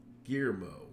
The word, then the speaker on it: Guillermo: Guillermo. Oh, okay. Guillermo. I guess the L is silent.